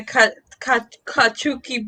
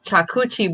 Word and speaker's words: charcuterie: I'll bring the kachuki board. How do you say that? I can't know how to say that word. The board with cheese. How do you say? Yeah. Board with what? cheese? Charcuterie board.